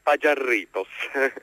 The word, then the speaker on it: Pajarritos: Pagiarritos, lo dico come si scrive, con 2 R e la J, Pagiarritos.